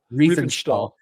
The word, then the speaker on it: Riefenstahl: Riefenstahl? Riefenstahl.